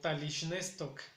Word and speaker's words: talishnestok: En mi tierra, para decir que está amaneciendo, lo pronunciamos como talishnestok.